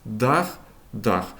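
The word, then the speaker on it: Dach: Відповідно д друке принтер ді даме дама das дах дах. Цікавий збіг, що в німецькій і в українській мовах слово дах відповідно вимовляється і означає одне і те саме.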